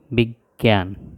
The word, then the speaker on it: বিজ্ঞ: শিকার নিয়োজ আকার ন বিজ্ঞান আর এটা হচ্ছে অজ্ঞ এটা হলো বিজ্ঞ আর এটা হচ্ছে প্রজ্ঞা এই জিনিসগুলো আমরা উচ্চারণের সাথে বানানের মিল খুঁজে পাওয়া যাবে না কিন্তু এগুলো আমাদেরকে এই